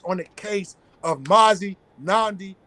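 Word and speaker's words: Nnamdi: do your research on the case of Mazi nandi kuu International politic that for me brother me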